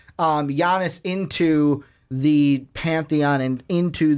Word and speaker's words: Giannis: Yeah, they have pieces, but is it enough to transcend Giannis into? I caught myself. I said the hard G. Giannis into the pantheon and into the top 3 in the East.